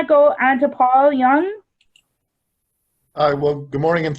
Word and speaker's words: Junge: And I'll end by saying that while I pronounce my name Young, I spell it J-U-N-G-E.